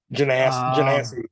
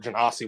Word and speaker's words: Genasi: Genasi is generally the pronunciation, but Genasi would work too.